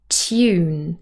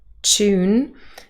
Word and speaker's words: tune: have the word tune now in RP receive pronunciation standard British English we would say tune so we have a t and a year tune now we do also have the pronunciation tune with a CH tune and that is also British pronunciation but with